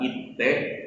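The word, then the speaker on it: いって: Penggunaan te di sini dibaca cepat, tidak seperti kata yang sebelumnya. Kalau kata sebelumnya tadi memiliki double T yang diucapkan itte, kalau sekarang diucapkan cepat, mite, seperti itu.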